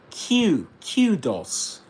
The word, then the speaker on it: kudos: That's kudos. Kudos in British English. Kudos. And we can listen to that. Kudos. Kudos. Kudos. Kudos. It's like, the word queue.